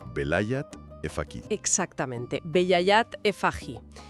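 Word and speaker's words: velayat-e faqih: todo, el velayat efaki, que para quienes nos escuchan lo pronunciaríamos algo así como velayat efqui.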